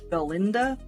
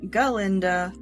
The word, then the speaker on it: Galinda: has done, she's the Galinda character. And no, I'm not exactly mispronouncing that. They take the Glinda, Glinda, from Wizard of Oz, and they make it be Galinda, which eventually gets changed to Glinda, simply because the Elphaba